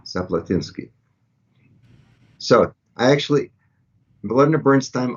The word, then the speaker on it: Zaplatynsky: pronounced my name and i said zaplatinski he said ah zaplatinsky so i actually melinda